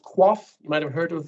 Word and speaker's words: QOF: Next one is, it's pronounced QOF. You might have heard of that. QOF.